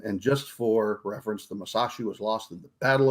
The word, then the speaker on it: Musashi: the i'm going to butcher this called the masashi um that weighed 73 000 or displaced 73 000 cubic tons of water um it's actually it's actually pronounced musashi that's what i said isn't it no you